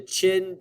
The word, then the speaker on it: Qin: the ruler of the Qin dynasty spelled with a Q pronounced with a CH sound number five how many